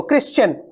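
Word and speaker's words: Christian: word आज का देखो क्रिश्चन ये टी जो है वो टी जो वर्ड वो लेकर के नहीं आ रहा है ठीक है वो टी जो वर्ड लेकर के जो है ट साउंड थोड़ी है इसमें नहीं है ना क्रिश्चन क्रिश्चन का मतलब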